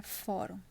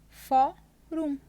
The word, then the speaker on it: fórum: que a gente separa fórum fórum Qual é a sílaba tônica o fórum ela vai ser só então a gente vai ter uma palavra paroxítona Mas ele pede para